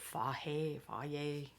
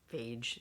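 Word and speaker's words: Fage: Like when I order I think you're supposed to say it Faye yogurt, phage. It's spelled phage, but that apparently is not how you pronounce it.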